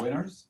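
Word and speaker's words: Whinners: are to you member our team is pronounced the winners but we're actually very very humble it's it's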